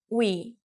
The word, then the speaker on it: 위: U and E together make we. U, E, we. 위, We means up.